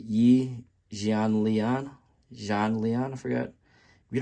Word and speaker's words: Yi Jianlian: You pronounce it Yi Jianlian.